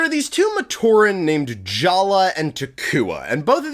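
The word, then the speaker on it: Jaller: Also, Jala's name is spelled like this, but it's pronounced Jala for reasons that humanity really has yet to fully understand.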